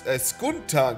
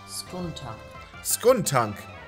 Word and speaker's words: Skuntank: Das heißt gar nicht Skunk-Tank. Skunk-Tank. Skunk-Tank. Nee, wie wirst du denn ausgesprochen? Lass mich das mal eben nachchecken. Wäre ich doch ein bisschen interessiert dran. Skunk-Tank. Wie wirst du ausgesprochen? Skuntank. Okay, es ist ein Skuntank.